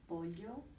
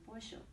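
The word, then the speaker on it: pollo: okay and for example some people say polio and some other people say porsho that is going to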